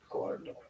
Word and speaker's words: Gordo: You gotta roll your R's when you say Gordo.